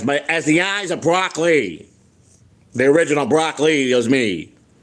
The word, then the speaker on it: Broccley: As my as the eyes of Broccley, the original Brocc was me.